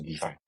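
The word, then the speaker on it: DeFAI: So it pronounces like decentralized finance with AI, right? So defy.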